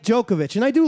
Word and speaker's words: Djokovic: no no it's just djokovic they call him the joker that's how you can remember it the d is silent yeah the d is silent in djokovic um he's a big